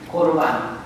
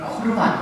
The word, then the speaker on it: 코르반: 고르반, 어로상으로는 코르반 그렇습니다. 따라서 볼까요? 코르반. 네. 우리 한글 번역으로 고르반인데 발음상으로 코르반입니다.